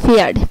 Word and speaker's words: Pferd: তারপর হচ্ছে যদি কোনো ওয়ার্ডে পিএফ একসাথে থাকে তাহলে এর উচ্চারণ হবে ফ এর মতো, যেমন ফেয়ার্ড, PFERD, ফেয়ার্ড।